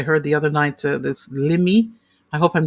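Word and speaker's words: Limmie: voice like I heard the other night, this Limi, I hope I'm saying it right, Limi Pulliam or Pullman. Mm-hmm. How do you say the name? Lemmy Pulliam.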